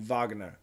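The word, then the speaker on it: Wagner: Magne there you go the German style pronunciation vogner okay good Shane where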